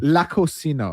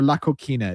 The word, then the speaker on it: La Cocina: La Cocina or La Coquina. It's spelled Cocina.